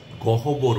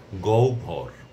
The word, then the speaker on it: গহ্বর: গহবর বলবো না। আমরা বলব গহবর।